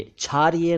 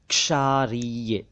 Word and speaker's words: क्षारीय: इसी से बना है क्षारीय क्षारीय क्षारीय नहीं क्षारीय नहीं क्षारीय एक शब्द है क्षितिज यानी